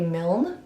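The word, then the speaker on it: Milne: and it is Winnie the Pooh by AA mil I believe is how you pronounce his last name I've actually never read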